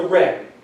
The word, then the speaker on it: ren: natures two important points in confusionism is the ren and the lee and this is another one of those things spelled with a j but it's pronounced like ren